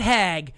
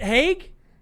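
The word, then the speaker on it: Haag: last name that's crazy what is it hake yeah you said hag that's flopped dude my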